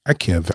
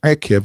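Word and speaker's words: עקב: And that Torah portion is called Akev. Akev spelled with an Ein, Kof, and a Vet. Akev.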